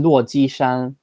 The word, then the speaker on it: 落基山: It's 落基山, 落基山.